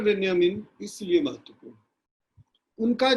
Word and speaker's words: Benjamin: तो पहले हम चर्चा करते हैं Walter बेंजामिन। Walter बेंजामिन German रचनाकार, विचारक हैं और उच्चारण के संदर्भ में बेंजामिन को बेंजामिन भी लोग कहते हैं, BENJAMIN।